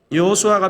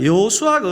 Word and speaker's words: 여호수아: 여호수아 있니다 여호수아 아 여호수아가 어떤 사람인지를 좀 먼저 알아볼 필요가 있는데요 여러분 여호수아는 이름의 의미가 뭐죠 여호와는 구원이시다 이게 제 예수 예슈아 이렇게 발음되는데 한국식으로 하면 여호수아 발음합니다 성경에 여호수아에 관한 기록이